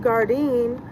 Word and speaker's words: Gardein: Look, it's pronounced Gardein, but you see it as Garden, right?